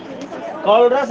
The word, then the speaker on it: Kohlrausch: कॉलरस लॉ है, कॉलरस लॉ, M नहीं है लास्ट में।